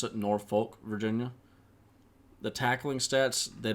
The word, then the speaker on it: Norfolk: Linebacker, 5'10", 219 pounds, out of Norfolk, or as most people would pronounce it, Norfolk, Virginia.